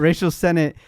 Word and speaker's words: Rachel Sennett: how to say her name correctly, but Sonate? Rachel Sennett.